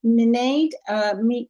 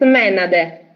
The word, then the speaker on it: Menade: Okay, so we'll go on to Minade. Is that correct? Did I say that wrong? Minade? It's Menade. Menade.